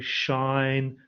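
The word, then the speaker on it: sinh: And because you pronounce them funny, shine, than, it just doesn't make sense in English anyway.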